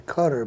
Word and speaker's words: Qatar: here in this case rival to us yep cutter by the way is spelled q-a-t-a-r q-a-t-a-r yeah i just wanted to mention that because a lot of people call it qatar and if you say cutter they don't know what you're talking about which